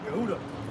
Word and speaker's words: Yehuda: of Acts 18:28, but the way you pronounce it, that they had you pronounce it was Yehuda, which we already understand that goes into Yehuda, which was Judah.